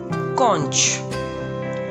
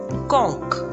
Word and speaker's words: conch: on the list is conch conch or conch it can be pronounced both ways in british pronunciation we can say konch and in american pronunciation we can say konk its hindi meaning is